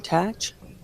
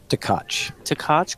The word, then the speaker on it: Tkach: Tkach. Tkach.